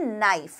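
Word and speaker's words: knife: लिखना है नाइफ तो आप के लगाते हैं शुरुआत में कना नहीं बोलते कना नहीं बोलते ना आप क्या बोलते हैं नाइफ लेकिन उसकी स्पेलिंग क्या होती है के एन आई एफ ई यहां पर के साइलेंट है मतलब इसका उच्चारण आपको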